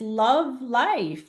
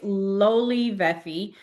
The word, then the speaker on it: Lolivefe: A lot of people will read it and be like, "No, Kanella, it's love life. That's how you pronounce it." I'm like, "No, no, no. It's Lolivefe."